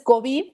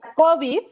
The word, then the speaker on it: COVID: Si es que tú en español pronuncias COVID, pues resulta que tienes una palabra que es grave, que termina en D, y por lo tanto debes de ponerle tilde. Si no le pones tilde, la pronuncias como una palabra aguda, COVID.